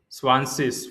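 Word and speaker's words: zwanzig: Swansis. This is how you have to pronounce swansis for 20.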